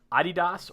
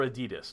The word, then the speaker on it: adidas: YouTube hmm okay number nine Amazon number eight adidas or adidas depending on where you want to pronounce that seven Facebook six Google five Starbucks